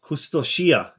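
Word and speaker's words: Kustošija: Is it Kustosia or Kustosia? Kustosia, apparently There you go.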